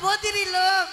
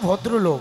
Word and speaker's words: ভদ্রলোক: হ্যাঁ বাবু আপনি তো বদিরি লোক, হ্যাঁ আপনি তো বদিরি। আরে বাবা সেই কথা নয়, ভদ্রি নয়, কি বলো যে আপনি তো ভদ্রলোক।